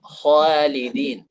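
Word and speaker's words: خالدين: Khalidin gitu. Kha-nya tebal, kemudian alifnya tipis gitu. Khalidin.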